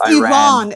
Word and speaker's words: Iran: Firstly, um you should learn how to say Iran. It's not Iran. If you really want to talk about a country speaking English right now when I speak Farsy, I will pronounce But it's Iran. Everybody Everybody can say don't interrupt. Everybody can say Iran and everybody can say Iranian and Iran just is not even the name of the country.